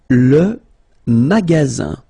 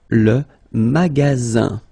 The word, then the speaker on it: magasin: Le magasin. Le magasin. Okay, remember you've got only one S between two vowels. Then you get the sound Z, alright?